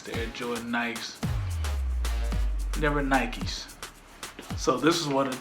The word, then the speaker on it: Nikes: cuz I wasn't sure I didn't realize the actual pronunciation for the shoes were Nikes Ron st. Louis they were just nice that's that's the way